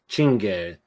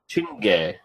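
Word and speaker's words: Czinege: Chinge. Chinge. The CZ is like a ch sound.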